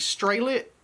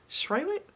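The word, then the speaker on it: Sralit: of these super cute straight lit no i'm saying it wrong s-r-a-l-i-t swallow it s-rail it page markers and a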